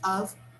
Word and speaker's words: of: of sort of yes this f here we pronounce with a sound of v the sound is a v okay so sort of sort